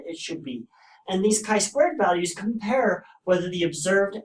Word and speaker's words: chi-squared: to be 0.05 and our Tai squared which is pronounced chi-squared test to have three degrees